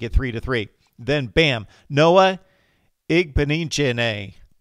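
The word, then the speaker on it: Igbinoghene: Then, bam, Noah Igbenichene. Yes, Igbenichene, I believe is how the young man pronounces his name.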